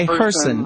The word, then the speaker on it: Hirsen: last name correctly well it rhymes with person so it's okay in person rhymes with person all